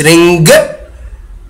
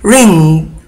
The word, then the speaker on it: ring: لاحظ ان صوت الـ NG يعني لا تنطق حرف الجي بشكل ثقيل، ما تقولش رينج رينج، ما تنطقش الجي، قول رينج رينج، كأن صوت الجي ينطق بطريقة خفيفة جدا جدا لا تكاد تلاحظ. بعد كده عندنا إكمال الحروف